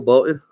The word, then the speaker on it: Bolton: gonna put some Michael Bolton music it's Michael Bolton bolt did you're even saying it wrong both bolt like Bolt bolted yes that's pretty much how